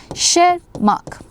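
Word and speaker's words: Tschermak: The T is silent. Okay. Shermark.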